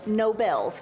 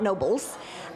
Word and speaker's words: Nobel's: The restaurant is pronounced Nobel's, not Nobles.